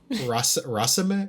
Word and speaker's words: raceme: No, it's Race. Raceme. It's spelled as raceme.